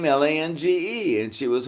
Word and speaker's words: Lange: That's a German derivative, and the reason we say Lange, Susanna, is because my father grew up in Louisiana, and that was the French influence oh.